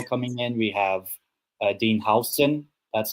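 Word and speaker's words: Huijsen: We have Dean Hson. That's how it's actually pronounced. That's what he said in an interview. Hson, not Hoist.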